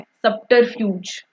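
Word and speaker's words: subterfuge: गलती से भी इसे सटर नहीं बोलना है। सब ही बोलना है। सबटरफ्यूज।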